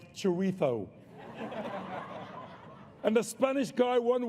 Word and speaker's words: chorizo: That final was the worst thing Spain has done to England since teaching middle-class white people it's actually pronounced chorizo.